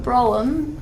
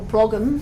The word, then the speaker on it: Brougham: And Lord Brougham, or Brougham, I think is how you say it, did phrase this, and